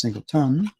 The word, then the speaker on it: Singleton: Actually, it's Singleton. But I just had to try to make it rhyme with Lynn and say tin.